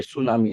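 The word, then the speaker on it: tsunami: हो होता है देखिए सुनामी सुनामी ये टी सुनामी नहीं बोलते इसको ये टी जो है साइलेंट है ठीक है टी साइलेंट है इसको सिर्फ डायरेक्ट सुनामी पढ़ा जाता है टी नहीं पढ़ा जाता है देखिए सुनामी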